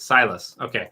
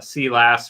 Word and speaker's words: Silas: uh c you know that's a sciss right silas okay i'm gonna work at it because i keep i keep accidentally calling him uh uh see lass or science uh so agent 86 has said